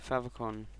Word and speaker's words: favicon: this i'm going to go and put in favicon generator you click on the top one that